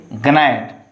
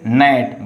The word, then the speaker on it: gnat: But here you have to you don't say gnat, only say gnat. But G is understood.